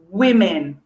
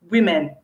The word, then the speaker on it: women: a very misleading one you got an o but you don't pronounce it o you pronounce it e it's very unusual okay so uh lots of students get it wrong it's women women think of it